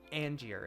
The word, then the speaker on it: Angier: on the list is Angier and if you read this for the first time it looks like you're saying angrier or Angier or something like that but it's pronounced Angier and if you say